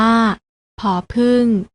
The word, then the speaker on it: ผ: ต่อ ไป นะ คะ พยัญชนะ ตัว แรก อ่าน ออก เสียง ผอ อ่าน ว่า ผอ ผึ้ง ส่วน พยัญชนะ ตัว ที่